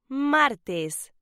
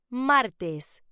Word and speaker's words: martes: Tuesday is pronounced martes. Say it with me. Martes. Okay, one more time. Martes.